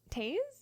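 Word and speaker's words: Taiz: Taze? That's how you would You're pronounce it.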